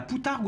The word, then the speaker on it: poutargue: de là de mulet on appelle ça la poutargue la moutarde suivant les prononciations le P ou le B est autorisé